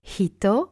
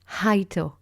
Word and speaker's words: hito: So it's hito and not haito.